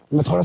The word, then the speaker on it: माथी: मैं थोड़ा सा बोलने में, उच्चारण में गलती कर रहा था। माथी बोला जाता है यहाँ पे प्रोनाउंस, तो अगर मैंने कुछ गलत बोला हो तो मुझे माफ़ कीजिएगा।